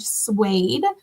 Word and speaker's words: Suede: Have you been to a Suede concert? No. Is it spelled like the fabric?